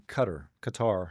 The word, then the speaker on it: Qatar: Tampa for a little bit, but I was over in Qatar, however you want to pronounce it. I like Cutter.